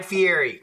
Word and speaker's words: Fieri: Berry, Guy Fieri. That it rhymes too.